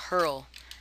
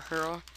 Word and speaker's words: Phurl: code and it's called hurl I think it's called that it has a p in the beginning but I think the p is silent I'm not really sure